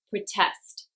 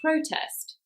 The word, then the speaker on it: protest: number four that's right this is another two syllable verb so stress is on the second protest if this word was a noun though it would be on the first syllable protest number five that's right